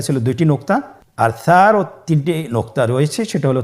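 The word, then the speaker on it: ث: মাখরাজ হল উচ্চারণ স্থান জিহ্বার আগা সামনের উপরের দুই দাঁতের আগার সঙ্গে লাগিয়ে উচ্চারিত হয়।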